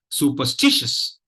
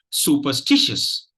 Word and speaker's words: superstitious: word goes like this superstitious superstitious superstitious superstitious so if you notice there are two stress syllables in this word Su and stish and